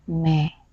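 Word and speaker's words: मैं: n basah Hindi saya adalah man8 penulisannya dan bacanya Mehe saya akan kasih contoh kalimat kata Hai saya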